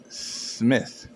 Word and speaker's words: Smyth: I noticed I got a, a jar of cannabis, and it's spelled SMYTH. Myth, Smith, Smith.